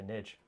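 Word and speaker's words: Njal: Is that how you pronounce it? Niall? Nah, I say Nidge, because I like Valrak. Nidge. Yeah, that's what he says.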